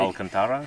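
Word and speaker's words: Alcântara: So I would pronounce that like something like Alcantara. Yeah, exactly. But it's I think when you hear a Portuguese speaker say it, it doesn't sound anything like that.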